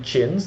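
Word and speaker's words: Qin: southern Y and the three chins that's Qi i n which is former later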